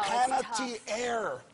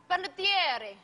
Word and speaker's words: Panettiere: Panettiere. Panettiere. It's tough. You know, they actually pronounce it better in Italy.